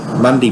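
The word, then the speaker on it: Mundie: So Mundy Place, Bray Park, and as Barry said, M-U-N-D-I-E is Mundy. It's not M-U-N-D-Y. So it's Monday, like, and please do include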